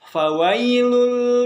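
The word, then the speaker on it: فويل: selanjutnya fawailul Lil mushollin ingat ya kalau ada huruf a ataupun itu bacanya bukan Pak tapi Pak Pak itu akan tidak fawailul fawailul itu akan beda artinya sebagainya jadi yang betul itu Va ada angin yang keluar di bibir kalian ya fawailul Lil mushollin Lalu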